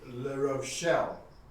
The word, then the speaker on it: La Rochelle: Nicholas Donning of a town called La Rochelle. I'm probably saying that completely wrong because I'm not? No, you're saying it right.